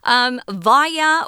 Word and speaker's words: via: Via or via, you can pronounce that word both ways.